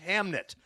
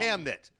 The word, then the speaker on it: Hamnet: about the creation of Hamlet, but it is pronounced Hamnit. It is correct. Trust me, though, Tony. It's a NET FILLED WITH ABOUT THE CREATION OF HAMLET, but it's called Hamnit.